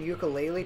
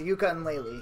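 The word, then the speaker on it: Yooka-Laylee: A fucking ukulele trailer got released. What the fuck is ukulele? Ukulele is about... Oh, yeah, yeah. Wait, No. I lied. It should be pronounced yuka and lele.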